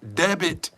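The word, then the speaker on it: debt: really have bad karmic debit again the word d-e-b-t you should not pronounce the b they have Bad Karma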